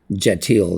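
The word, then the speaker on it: Kjetil: I don't know if this guy pronounces the K. I assume he doesn't. Jetil, that's how I pronounce it.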